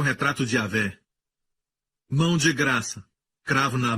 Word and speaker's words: Yahweh: Yud, Rei, Vav, Rei. Pronunciado como Yahvé.